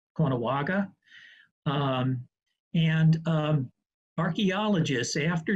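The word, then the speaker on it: Caughnawaga: from fonda new york it's uh pronounced uh kono konawaga um and um archaeologists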